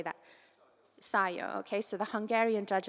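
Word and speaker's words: Sajó: Sio.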